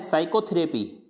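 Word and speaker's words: psychotherapy: फिर है साइकोथेरेपी, साइकोथेरेपी, तो यहाँ पे भी अपन पी को प्रोनाउंस नहीं कर रहे।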